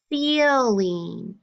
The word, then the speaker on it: ceiling: You do not hear the I. You have a long E sound, with an I.